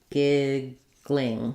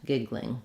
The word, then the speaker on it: giggling: to the Ling giggling or I can do giggling where I do a kind of a GL blend giggling giggling that's probably the easiest one to do so that's what I would recommend giggling um giggling is okay but in general when we can do two syllables um that's what native speakers will do he was giggling a